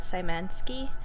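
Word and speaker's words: Szymanski: I'm going to pretend that the Z is silent. Simansski.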